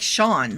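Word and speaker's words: Sean: It's like Shawn, my cousin's name. S E A N. Shawn.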